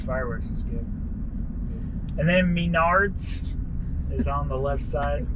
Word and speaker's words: Menards: Menards. Menards. It's the way you pronounce it.